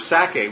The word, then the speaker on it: Sacae: the Sacae was, again, I just picture the word Isaac, and Sacae is S-A-C-A-E. It has the syllable of sac, Isaac or Itzhak right in it.